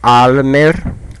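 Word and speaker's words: אַלמער: so let's see together Almer Almer pay attention to the sound of R okay American speakers Almer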